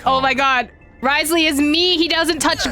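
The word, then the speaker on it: Wriothesley: does have a plan risely shut up that's how his name's pronounced that's the most shocking thing of today that's literally the most shocking thing of today it cannot be pronounced wisely huh you're telling me the name with a th is wisely where's the O the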